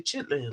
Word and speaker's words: chitterlings: what's that what's a chitterling a chittering chitterling you know like chips chitlin yeah the bird that bird that you from the south you supposed to say chitlins no but I say